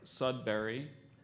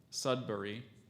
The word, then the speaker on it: Sudbury: so there's there are there are three pronunciations there's Sudbury Sudbury and Sudbury what I I've had